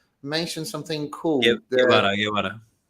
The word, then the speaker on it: Guevara: Guevara, like Che Guevara.